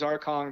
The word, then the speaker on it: Arcangues: It's Arcangues, and if you can get Arcang from that, then you're better than I am. And I didn't know his name was Arcong, but I knew he ran like King Kong.